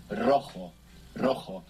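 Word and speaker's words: rojo: stay the word for red in Spanish is roo roo this is spell r o j o and JS in Spanish I pronounced like this and we have the initial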